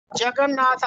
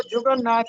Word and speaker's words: جگن ناتھ: تھے، تلوک چند محروم۔ جگن ناتھ آزاد ان کے بڑے مشہور فرزند ہیں، اور اکثر لوگ اس کو جگن ناتھ پڑھتے ہیں، جبکہ درست تلفظ ہے جگن ناتھ، جیم پر زبر ہے۔ جی آگے بڑھے۔ جی